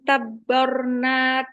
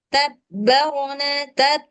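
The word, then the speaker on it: تَبَّرْنَا: Waan dorobna lahul amsal waan tabbarna tasbir. Nah, itu kebanyakan tuh mbak ini mbak apa namanya? Mbak dia jangan tabar, jangan begitu wanabbar tabarnabir. Jangan masih tabarna mana tadi? Tabbarna. Jangan tabarna jangan gitu.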